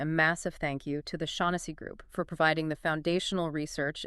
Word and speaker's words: Shaughnessy: Remember, that's pronounced Shaughnessy.group.